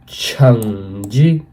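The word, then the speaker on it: 橙子: तो संतरा यानी ऑरेंज को हम लोग चाइनीज में कहेंगे छंगजी।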